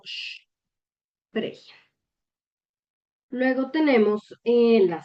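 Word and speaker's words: sprechen: Sí, la sp también lleva ese sh. Entonces, por ejemplo, para el verbo spregen. Hm. Entonces se pronuncia como sh pregen.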